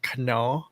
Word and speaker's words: Knorr: So in Thailand we call it Knorr, but Knorr. We say Knorr because the K is silent.